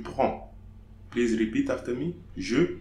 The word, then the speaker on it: prends: Okay, so here I'm not pronouncing the DS. So, je prends.